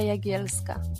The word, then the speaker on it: Jagielska: She had to help me out a little bit to say her name properly. Jagielska. So Jagielska. Jagielska? Jagielska. It's a Y. Jagielska. It's a Y, yeah.